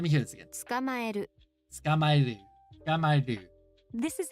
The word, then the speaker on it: 捕まえる: 捕まえる Skamaeru.